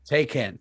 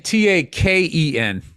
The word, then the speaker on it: Taycan: Taycan. Taycan. Andrew, can you pull that up? I thought you were saying Taken, like taken.